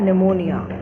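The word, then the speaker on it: pneumonia: लेकिन निमोनिया की spelling N से नहीं लिखते हैं, P से शुरू होती है. P is silent hair.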